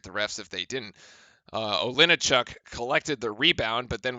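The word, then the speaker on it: Olejniczak: Olinichuk. There we go. I had to look at the pronunciation guide to actually make sure I got that one right. That was Olinichuk there with the block, and Trey Jones's inbounds pass is deflected.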